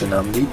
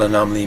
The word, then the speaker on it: Anomalie: In French it's Anomalie, in English Anomalie, since French is my main language. And as for the meaning of it, well, Anomalie means something that doesn't